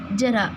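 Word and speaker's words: ज़रा: ठीक है, जो जय के नीचे बिंदी लगी तो इसकी प्रोनाउंसिएशन उच्चारण इसको पढ़ेंगे जरा। जरा, जय जय, ये जय और ये जय। इसमें जो हमारी जीभ है वो इस पे थोड़ा सा दबाव डालेगी, घर्षण के साथ ये आवाज़ निकलेगी जरा।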